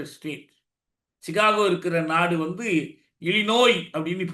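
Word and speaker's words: Illinois: Chicago இருக்கிற நாடு வந்து இலிநோய் அப்படின்னு பேர் ஸ்பெல்லிங்லஐஓஐ இருக்கும் இந்த இருக்கறதுனால நிறைய பேர் தப்பா இலிநாய்ஸ்ல்லாம் படிப்பாங்க இல்ல அது பிரஞ்ச் மொழியில அந்த உச்சரிப்பு இழிநாய் அதுபோல இருகுவாய் என்பதுதான் இருக்குவாய்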